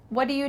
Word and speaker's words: what do you: you what do you the T in what is cut out and instead it's